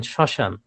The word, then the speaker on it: শ্মশান: যেমন শ্মশান, আমরা যখন শ্মশান এইভাবে লিখছি যখন, তখন কিন্তু আমরা চন্দ্রবিন্দু দিচ্ছি না, কিন্তু উচ্চারণটা কিন্তু আমাদের নাকের ভিতরে চলে যাবে, নাসিক্য উচ্চারণ, শ্মশান।